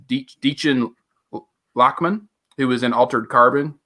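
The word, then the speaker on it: Dichen Lachman: It's Deechin Lachman, who was in Altered Carbon.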